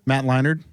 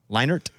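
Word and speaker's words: Leinart: Leonard who Leonard Who Matt Leonard have I said it wrong Matt Leonard leinert Leonard there's a t in there you're saying a d you're saying a d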